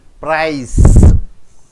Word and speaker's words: price: Price. C is pronounced as yes.